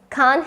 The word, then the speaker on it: can't: දැන් මේ can't help it කියන්නේ ඔය can't කියන එකේ t අපි pronounce නොකර ඉන්නවා. අර fluent speech එකේදී එහෙමත් නැත්නම් අපි කියනවා rapid speech එකේදී natural speech එකේදී ගොඩක් වෙලාවට ඔන්න ඔය t අකුර හැලෙනවා.